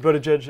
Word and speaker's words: Buttigieg: What is the correct pronunciation of your name? Pete. Just Pete. Yeah, no, it's Pete Buttigieg.